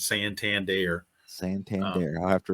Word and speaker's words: Santander: those guys well one of the guys is Santander that's how you pronounce that name yeah it's the outfielder I forget his first name but it's Santander Santander there I have to remember that it